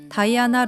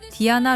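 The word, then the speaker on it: Diana: 영어권 통용 발음인 다이아나 루시퍼 아라디아를 라틴, 이탈리아어 원어에 가까운 발음인 디아나 루치페로 아라디아로 명명합니다.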